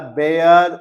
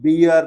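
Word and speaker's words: bear: जिसे आप भालू बोलते हो, उसे आप अंग्रेजी में बियर नहीं बोलते हो। Correct your pronunciation, it's नॉट बियर, इट्स बेयर।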